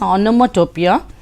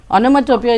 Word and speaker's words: onomatopoeia: interesting uh question this is um onomatopoeia you pronounce it as onomatopoeia onomatopoeia is also a figure of speech a very